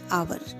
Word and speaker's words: hour: तो आप क्या प्रोनाउंस करते हो उसको, इसकी प्रोनाउंसिएशन क्या हो जाती है आवर, है ना.